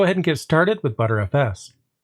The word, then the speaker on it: btrfs: you pronounce it i've actually heard of it pronounced as b3fs as well as better fs and the thing is these pronunciations are pretty